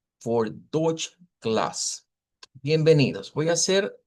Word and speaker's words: Deutsch: comenzar con la palabra dodge, que dicho sea de paso, se escribe con una eu, pero el sonido es una oy, es un diptongo de una o corta con una i corta.